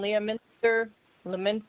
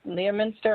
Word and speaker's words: Leominster: was the one in leah mr minster leominster i always pronounce it wrong forgive me massachusetts right